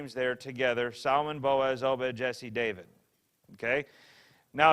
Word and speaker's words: Boaz: added in there and boaz by the way is spelled a little different spelled like b-o-o-z but it's boaz booze it's probably not meant to be long it's probably meant to be boaz the way it's put together mm-hmm oh bit of